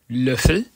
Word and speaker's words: Löffel: The O umlaut is pronounced like Ö in the English word first. It has long and short varieties, which follow the same rules as the other vowels. For example, Löffel, with a short Ö, meaning spoon, as opposed